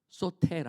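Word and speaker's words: σωτήρ: 그 헬라어로, 그 히브리어로 하면은 뭐라고 읽어요? 소테르.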